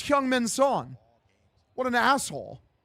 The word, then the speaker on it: Son Heung-min: They really said Son's name wrong. That's crazy. Like that's so disrespectful, brother. Like in in Korean for the Koreans like they say their they they say the last name first, brother.